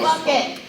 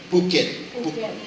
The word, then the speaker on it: Phuket: How do I say it? What is it? So I don't say it wrong. Bucket. Phuket. I don't know. She lived there. She says it's Phuket. Phuket.